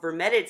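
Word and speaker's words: vermetid: And now that we've talked about vermetted snails, that's the pronunciation, and thank you, Mermaid's Reef.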